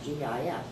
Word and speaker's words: GIF: how do I pronounce .gif? And the fellow who developed that format has a little audio that says, oh yes, it is GIF.